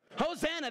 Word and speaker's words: Hosanna: it's on the screen it rhymes with Rosanna Hosanna that's right Hosanna means